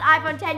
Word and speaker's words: iPhone X: as the iPhone X it is spelled iPhone X pronounced iphone 10 you guys I am